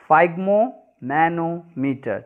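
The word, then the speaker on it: sphygmomanometer: जिसका नाम होता है फाइग्मोमैनोमीटर, ठीक है, यस साइलेंट, फाइग्मोमैनोमीटर।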